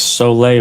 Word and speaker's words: sole: It was sole water. It's spelled S O L E, like soul. Soul of your feet.